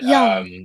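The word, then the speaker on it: Jung: Young. Chase Young. Young. Yeah, it looks like June. It's spelled weird. But yeah, Young, him.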